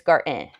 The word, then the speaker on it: kindergarten: Y'all, did you know that kindergarten, there is no D, there is no T, or however you want to pronounce that. It's garten.